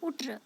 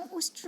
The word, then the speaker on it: उष्ट्र: तब उस मूर्ख ने शुद्ध उच्चारण की असमर्थता से उट्र ऐसा कहा। दोस्तों, उष्ट्र मतलब होता है ऊँट, लेकिन उन्होंने उट्र कह दिया।